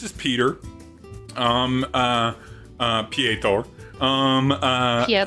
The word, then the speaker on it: Peter: Um, uh, uh, Ptor. Um, uh, Ptor. Yeah. Yeah. Uh, but it's spelled Peter. It's P E T E R. It just everyone pronounces it Ptor.